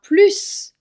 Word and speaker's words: plus: Je prononce le S car il y a de juste après. Si plus a un sens positif, alors on va également prononcer le S.